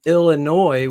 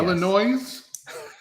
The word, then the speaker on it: Illinois: up bro I'm not from Illinois with a silent S I guess Illinois exactly that's been Phil's